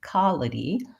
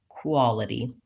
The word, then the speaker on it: quality: hear sometimes is that that W sound might drop off so I might hear somebody say something more like qaulity rather than quality you may also have an issue or a pronunciation pattern for the W sound where you're not forming rounded lips so when I say quality I should really feel my lips go into the U shape for the wah-wah and